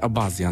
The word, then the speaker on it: abazja: właśnie a czyta się abaia wiesz co z tego co widziałem czyta się abazja normalnie w naszym języku tak aha na tej